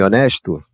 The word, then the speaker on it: honest: Se eu quero falar um homem honesto, eu diria anh honesto. Então, percebam que agora em honest tá mudo.